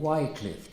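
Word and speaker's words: Wycliffe: His village village which he came is now called Wcliff for some reason but his original was a original pronunciation was a short vowel.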